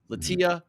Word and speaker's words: Latia: it was spelled but I thought Lisha was still on the table the way it was spelled so latia was probably third on my list of pronunciations for that but is what it